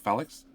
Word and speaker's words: Phalanx: I pronounced it wrong. I was told Phalanx. Yes.